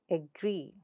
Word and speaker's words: agree: For example, agree, agree. You see how e is elongated? Agree.